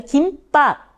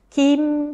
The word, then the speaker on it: 김: 자, 그 다음에 김밥, 김밥, 2음절이에요.